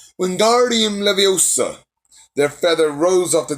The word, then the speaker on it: Wingardium Leviosa: Wingardium Leviosa, said he shouted, waving his long arms like a windmill. You're saying it wrong, Harry heard Hermione snap. It's Wingardium Leviosa. Make the gar nice and long.